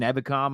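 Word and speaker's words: Ebukam: Samson Ebicom, I think, is going to be the number one guy. Oh, I'm glad you said it right now, like Jason Witten. Yeah. Ebiku? Ebicam.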